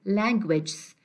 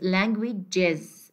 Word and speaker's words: languages: Don't say languages. It is languages.